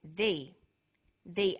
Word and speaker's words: the: difference in pronunciation though when the comes before a vow sound we say the the apples so the before vow sounds and the before consonant sounds let's look at the